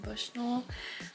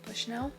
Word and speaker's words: Bushnell: Then the next book that I'm going to be reading is Sex in the City by Candace Bushnull, I think is how you say it. Bushnell.